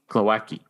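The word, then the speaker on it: Głowacki: Glowacki.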